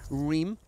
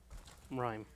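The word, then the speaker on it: Rime: In the terms of Arthas, it's of course Reem. Reem? How do you say that? Rhyme. Rhyme? That's what we're going with. Okay. Because it looks like lime.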